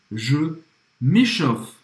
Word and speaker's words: m'échauffe: E aqui também, olha, o AU tem o som de O em francês e o E no final da palavra não vai ser pronunciado praticamente, tá?